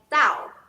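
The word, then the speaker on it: 倒: is upside down in upside down in chinese pronounced as dao and then the or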